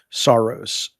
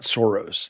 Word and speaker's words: Saros: Returnal was Saros, not Soros.